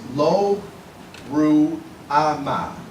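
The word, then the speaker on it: Lo-Ruhamah: Child 2 is born, and this child, the actual name, and I'm going to try to pronounce it in the Hebrew, is Lo Ruama.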